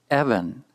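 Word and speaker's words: אֶבֶן: Evan, Evan. Notice the accent is on the first syllable, signaled by the raised chevron.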